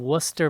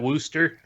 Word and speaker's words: Worcester: pronounce that Worcester? Nope, Worcester. Is that right? Worcester. Okay. No R's.